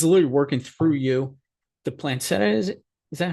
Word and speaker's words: planchette: The planchette, is that how we pronounce it?